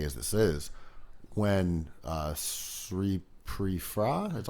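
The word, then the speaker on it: Sripraphai: an obvious cliche as this is when uh sri pre-fra that's how you say it so pretty far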